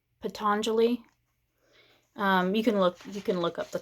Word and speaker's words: Patanjali: And I think it's pronounced Patanjali. Patanjali. You can look up the quote. Patanjali. Patangali.